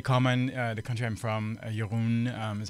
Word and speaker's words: Jeroen: The country I'm from, Jeroen is how you pronounce it.